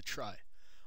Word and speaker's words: trie: can help achieve this Edward fredkin coined the word tree from the word retrieval some pronounce the tree While others pronounce the try I'm going to try